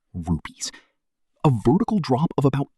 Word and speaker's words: Rupes: It's called Verona Rupus, pronounced Verona Rupes, a vertical drop of about 20 km.